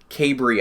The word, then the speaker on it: Cabre: before I talk to Nora kay Bree I believe is the correct pronunciation if I remember correctly but it's hard when there's like ten different pronunciations that people throw out out there because nobody knows how to pronounce it kay Bree chase kay